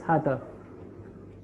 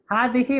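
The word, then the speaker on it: هذه: So she also says hada. So everyone's on the same boat. So how do you say this is my school? Hazihi. Hadihi madrasati.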